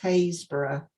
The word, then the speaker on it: Happisburgh: How can something that's spelt Happisburgh be pronounced Haysborough? It's nothing like it, is it?